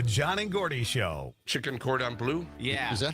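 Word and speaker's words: cordon bleu: The John and Gordy Show, Chicken Cordon Blue. Yeah. Is that how you pronounce it? Do you have Julian standing by? I do have Julian to hear him. It is said Cordon Blue.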